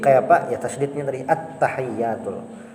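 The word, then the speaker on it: التحيات: Yang bisa tersalah itu amun kalajuan tasdidnya tahu hilang, tasdidnya hilang. Membacanya itu kayak ini. At-tahiyyatul. Nah, dikit bedanya, tapi tasdidnya tadi hilang. Inilah yang tasdidnya hilang ada. At-tahiyyatul. Nah, hilang tasdidnya.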